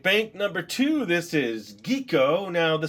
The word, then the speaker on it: Quico: number two this is geeko now the spelling was Qi but after I watched a couple episodes in the intro it didn't sound like they were saying quo it sounded more like geeko so that's what I